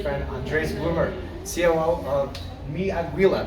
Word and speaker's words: Aguila: Hey guys, Amir Ryder here with my good friend Andres Bloomer, COO of Aguila. Did I pronounce that correctly? Aguila, very close. Aguila.